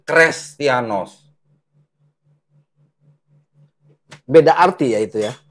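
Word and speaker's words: Χρηστιανός: jadi apa nih jadi kalau ini menjadi seperti Huruf H atau Eta bacanya ini bukan christianoz tapi kres beda arti ya itu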